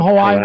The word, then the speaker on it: Hawaii: Typically subtropical ridges keep storms away from Hawaiian islands. Oh, subtropical ridge keeps them away. I'm heading your way apart just pulled up. Okay. 10. Remember the I is pronounced as in E in Hawaii level is oh